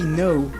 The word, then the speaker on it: no: Spanish no no really similar than the English version however there's a small difference in the English version uh you say no with a little u sound at the end in Spanish you don't have that it's just no no you don't add uh